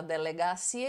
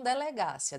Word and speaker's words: delegacia: Você deve estar no ia não, ia sim, porque você fala delegacia e não delegácia.